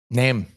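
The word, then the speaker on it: Nehm: you did with Eric how you pronounce his last name neem name name like quite literally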